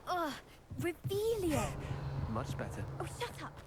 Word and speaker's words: Revelio: Ugh, Revelio.